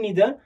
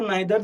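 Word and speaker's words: neither: फिर उसके बाद है इधर एंड नीदर. तो इधर नीदर ऐसा भी प्रोनाउंस बोलते हैं, कभी कभार आइदर नाइदर, दोनों भी प्रोनाउंस एक्सेप्टेड है.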